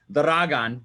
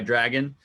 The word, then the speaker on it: Dragan: Well, his name is pronounced Dragan, but he goes by Dragon.